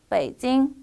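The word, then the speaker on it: 北京: 지금은 발음 그대로 베이징이라고 표기하고 한번 같이 읽어볼까요? 베이징, 베이징이라고 읽습니다.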